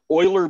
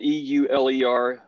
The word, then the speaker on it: Euler: And Euler Beats, that's spelled E-U-L-E-R, Euler, Euler Beats, just issued NFTs.